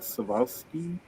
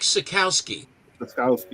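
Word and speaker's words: Sekowsky: Mike Savowski. Mike Sikowski.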